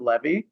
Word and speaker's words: Levi: You want to pronounce it Levy?